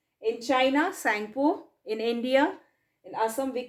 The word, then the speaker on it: Tsangpo: where it is called sangpo t is silence here right t is silent here and it's written as this tsangpo sangpo now when it enters